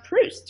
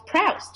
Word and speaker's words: Proust: some library and she didn't know how to pronounce Proust. She thought it was Proust.